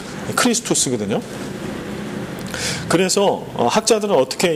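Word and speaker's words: Χριστός: 그리스도의 헬라식 발음이 크리스투스거든요.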